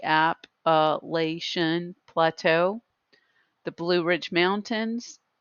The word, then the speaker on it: Appalachian: we have the appellation with the pronunciation key app elation plateau the blue ridge